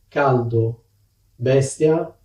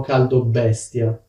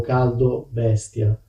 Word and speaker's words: caldo bestia: In theory, it should be "caldo bestia", but that is pronounced as a single word. Specifically, as if it included two Bs. Can you hear that? "Fa un caldo bestia", as if there were a double B.